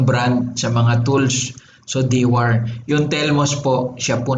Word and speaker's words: Dewar: Dewar ang pronunciation natin dito eh. Ginamit na rin itong brand sa mga tools. So Dewar.